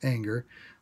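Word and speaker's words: Ehinger: Parker Anger, his last name spelled E-H-I-N-G-E-R, but it's pronounced Anger.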